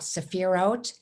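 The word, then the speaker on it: sephirot: a little pronunciation about saphirot it has a t sound where the t and h are this is similar to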